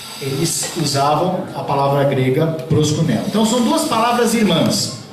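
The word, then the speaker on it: προσκυνέω: E no grego existe a palavra, o verbo proskuneo, tem um i lá, mas a pronúncia é proskuneo, que é o equivalente da palavra em hebraico shahar.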